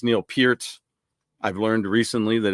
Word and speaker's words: Peart: I know that it's Neil Peart.